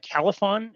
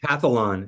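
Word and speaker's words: Calphalon: Califon, is that the brand of pan? Cathalon is how it's pronounced.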